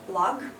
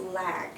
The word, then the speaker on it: log: this yeah okay so it is not log like you would like to say it it is lag okay it is not leg so we need to open our mouth more it's lag like the difference between bad and bed yeah that's the same difference between leg and lag so how do we